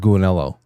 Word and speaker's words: Gulinello: Anner said, I especially love your episodes with Jay, Cool Marshmallow. Rhymes with Gulinello.